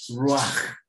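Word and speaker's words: רוח: Una serie de eruditos, y explica que la palabra espíritu en hebreo se pronuncia ruach, y en armonía con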